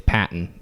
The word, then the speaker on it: Patton: Here's why I say it's Patton. Because one, it's spelled Patton. P-A-T-T-O-N. That's a gimme. Patton. A baton.